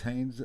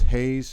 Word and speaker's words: Haynes: continually calling him Justice Hayes, a former Wolverine. Uh, he might want to learn how to pronounce the name. There is an N in it at the end.